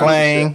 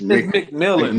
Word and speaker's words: McMillan: this shit McLean. all day. McLean from So, Arizona. yes, It's McMillan.